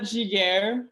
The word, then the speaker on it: Giguère: Well, I'll start by saying my name, just in case you guys don't know how to say my last name. Yep. It's Giguère.